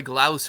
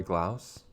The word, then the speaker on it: Glaus: and that will grant great second base troy glaus at the plate now am i pronouncing that correctly troy glass gloss right center field and that will allow grace